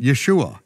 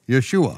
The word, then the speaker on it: Yeshua: Right in the Hebrew, there's no other way to pronounce it, Yeshua, Yeshua.